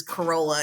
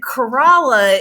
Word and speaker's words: Corolla: into like the it's it's like corala versus Corolla it's it's kind of